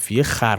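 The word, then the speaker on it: خور: "Mā o ishān basteye khābim o khar" This term is "khor" meaning to eat however, for the sake of rhyme, it's read "khar" They looked at appearances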